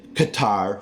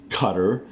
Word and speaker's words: Qatar: Kabul I do say Kabul I don't say Qatar for that country in the Middle East I say Qatar just wanted to get all that pronunciation stuff